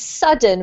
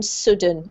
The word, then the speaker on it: sudden: It's sudden rather than sudden, okay?